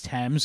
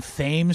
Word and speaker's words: Thames: And also she like laughed when I said Thames Street, because I assumed it was Thames, because that's how it's pronounced in England. And you mean Thames Street?